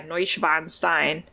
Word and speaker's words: Neuschwanstein: And I cannot pronounce this name at all, but I think it might be the Neuschwanstein. Cast. Oh yeah, Neuschwanstein.